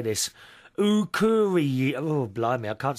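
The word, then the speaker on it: Akureyri: Ukuri. Oh, blimey, I can't say this. Ukuri.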